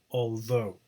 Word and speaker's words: although: Okay, but it's although, the stress is on the second syllable.